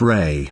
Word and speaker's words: Ra: for gold is O the word Rah is the name of an ancient god called Rah pronounced Ray in Egyptian mythology Rah was